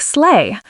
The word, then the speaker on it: sleigh: Sleigh has a silent gh, so it sounds like sleigh. Vehicle stresses the first syllable, vehicle.